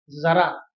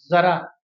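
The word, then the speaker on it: ज़रा: इसमें अंतर है उच्चारण में। यह शब्द है जरा और यह शब्द है जरा, जरा, नोट करना दोस्तों।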